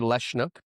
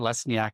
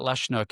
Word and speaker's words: Lesniak: I've had less nyak my whole life. Um, but Lashnnook is the proper way to pronounce that that name because it is a Polish name.